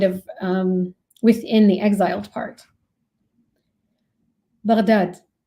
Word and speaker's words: Baghdad: Baghdad, pronounced with a ghain, stumbling from the back of the tongue and the top of the throat, like a gentle gurgle